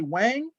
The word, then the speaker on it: Wang: surname is spelled W-A-N-G, some people will say Wang, and it really should be, for the most part, every time I heard it in China, it was pronounced Wang. That A came across almost like an O sound.